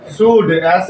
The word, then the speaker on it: should: देखिए सबसे पहले हमको क्या लिखना है अफर्मेटिव सेंटेंस का सब्जेक्ट प्लस उसके बाद शुड SHOULD। इसको हम शुड नहीं पढ़ेंगे शुड पढ़ेंगे, एल साइलेंट होता है बच्चों इसीलिए शुड पढ़ना है।